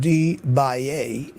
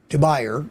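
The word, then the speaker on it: de Buyer: My favorite two are this deeper DeBaye, it's pronounced DeBaye, not DeBayer, but DeBaye Mineral B carbon steel 11-inch pan, and the Mueller 12-inch German stone.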